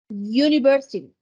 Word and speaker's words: University: mire Cómo suena esto es la u pero el sonido es suena como University University lleva la a porque es un sonido de consonante por eso les dije